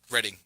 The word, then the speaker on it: Reading: Reading. I think it's pronounced Reading, even though it's spelled Reading. Yeah, I know.